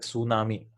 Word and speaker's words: tsunami: Like tsunami, right? The T in tsunami is silent.